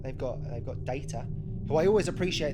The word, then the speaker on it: Data: they've got they've got data who i always appreciate they pronounce data the uh the british way that's nice even the